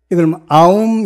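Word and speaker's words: Om: 설명이 한 대목이 나오는데 옴자를 a aum 이렇게 발음하잖아요 a는 법신 유는 보신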